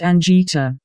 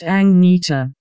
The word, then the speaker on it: Agnetha: I'm saying it right Ana is not pronounced Ang it's pronounced angita hi from Sweden but